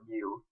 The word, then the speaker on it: mu: for a population mean is the Greek letter mu which looks like a u and it's pronounced this way we won talk about median